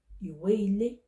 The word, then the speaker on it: ìwé-ilé: And the second one is pronounced as ìwé-ilé.